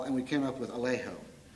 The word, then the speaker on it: Alejo: We softened the vowel, and we came up with Alejo, which also rhymes with Trejo, which also rhymes with Vallejo, the great Peruvian poet who we so passionately admired.